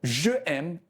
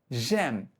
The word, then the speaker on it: j'aime: Additionally, because aimer begins with a vowel, je changes to j apostrophe for easier pronunciation. So, je aime is incorrect, and we must say j'aime instead.